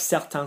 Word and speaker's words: certain: Yeah, so when you add an E to an N, it makes the previous vowel go higher. Like certain, certaine.